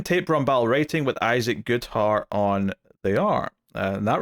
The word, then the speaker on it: Goodhart: All right, Batgirl issue 7, Tate Brombal writing with Isaac Goodhart on the art. And that rhymed because his name rhymes with art.